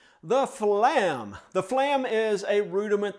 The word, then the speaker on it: flam: It's two syllables, flam, and we're going to make those with two strokes. The f is going to be a soft stroke. Okay, flam. Lam is going to be the loud stroke.